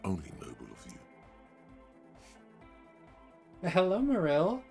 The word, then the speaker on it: Marill: Hello, Marill. It's nice to see you. I hope you're doing well today. Marill? Meryl. Meryl. That's how the Pokemon's name is pronounced.